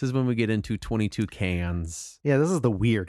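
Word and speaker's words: 22cans: lowercase word cans and it's supposed to be pronounced as 22 cans like the bird but you would if that's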